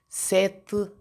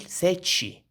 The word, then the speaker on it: sete: três, quatro, cinco, seis, sete, sete. واخدين بالكم هنا تي اي في الاخر، تي اي بتنطق ايه؟ ت، ت. دي في لهجة البرتغال، لكن في لهجة البرازيل ساتشي، تشي.